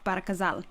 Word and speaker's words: Ghazal: So the proper way of pronouncing it is not Ba El Ghazal; it's actually GHAZAL.